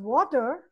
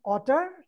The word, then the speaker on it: water: Then the child thinks, okay, in the word water, W has to be silent. So do you call water otter? No. Because W, Walter Walrus, is not with Red Robot.